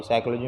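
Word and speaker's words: psychology: और थर्ड है साइकोलॉजी, साइकोलॉजी में पी साइलेंट है।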